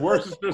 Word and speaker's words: Worcestershire: Some Worcestershire sauce.